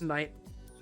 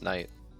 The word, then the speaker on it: knight: I don't think that saying Also, yeah, knight is Mona, interesting Mona, enough. it's night. Yeah, it's night.